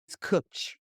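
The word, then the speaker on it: cwtch: what that word is and how do you pronounce it that word is cooch so you have a cooch so a cooch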